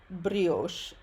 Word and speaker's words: brioche: La brioche, while we're talking about loanwords, la brioche is a French loanword pronounced as it is in French, which is, again, brioche.